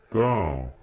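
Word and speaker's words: 桃: Второй тон. Вверх. Персик. Тао. Тао.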